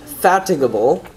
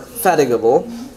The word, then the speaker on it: fatigable: however is that a the pronunciation is different so this is pronounced fatigable or fatigable this one see this has the schwa right here here you have the schwa so fatigable here you have the e macron fatigable does that make